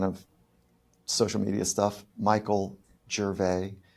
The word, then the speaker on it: Gervais: All of the kind of social media stuff, Michael Gervais, it's spelled like Ricky Gervais, but it's, not pronounced the same way. So Michael Gervais, I think the podcast is the coolest way.